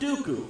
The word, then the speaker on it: Dooku: While Lee was portrayed in a number of memorable roles such as Saruman the White and the rhymes with Poo-Poo, Count Dooku from the worst Star